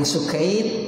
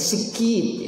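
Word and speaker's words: Ibn al-Sikkit: Qala Ibnu Sukaid, ini bacanya ada yang Sukaid, ada yang bacanya Sikit ya, namanya merujuk kepada orang yang sama ya.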